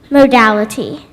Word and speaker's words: modality: to music that is neither major nor minor modality am I pronouncing it correctly modality m o d a